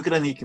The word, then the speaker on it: Kranick: Kranick, está correto a pronúncia? Certíssimo, é isso aí. Algumas pessoas mudam a tônica porque não tem acento, né? Mas é Kranick mesmo.